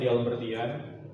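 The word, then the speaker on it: d'Alembertian: Nah, terus kita juga bakal memperkenalkan satu operator yang namanya Dial Bertian. Bacanya kita dial bertian.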